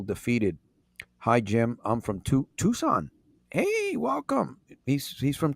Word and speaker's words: Tucson: Tucson Arizona people who don't know how to pronounce Tucson right it's supposed to be Tucson but uh